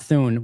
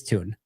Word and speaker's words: Thune: I just pronounced Thune like moon, not Thune with a th sound.